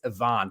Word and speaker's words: Ivan: Same with Ivan Matt Lovich or excuse me, it's Ivon. Matt Lovich. Yes, I heard the pronunciation guy.